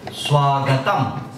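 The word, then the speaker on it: स्वागतम्: Ma is pronounced half. Swagatam.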